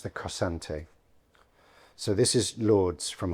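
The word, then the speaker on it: cossante: In this case, he's making an English poem in a version of a 13th century Spanish form, which I believe is pronounced the cosante.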